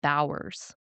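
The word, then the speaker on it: Bauer: So, the Rothschilds ch are originally the Bowers. Okay. Like the ice skate brand spelled the same B A U E R. Bower, which is interesting.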